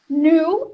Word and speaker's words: knew: Knew é o passado de know. Então, a gente não vai fazer um som de é aqui. Não é new, é knew. E o K é mudo.